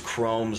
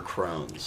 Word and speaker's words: Crohn's: got it yeah I didn't know if it was Chrome's or Crohn's Crohn's with an N yeah it's it's spelled weird it's like CR o h NS and so but ya